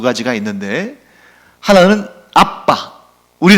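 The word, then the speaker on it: ἀββα: 에 아버지를 지칭하는 단어가 두 가지가 있는데 하나는 아빠 우리 랑 발음이 똑같아요 아빠 혹은 뭐 이제 영업권 내사랑 분들은 그렇 된 소리가 다르게 안되니까 아바 또는 이렇게 아파 이렇게 발음 합니다만 원래 바람은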